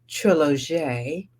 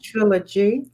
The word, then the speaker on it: Trilog: can let everybody know it is trilog trilog not trilogy but trilog the French pronunciation and spelling of Trilogy and it will not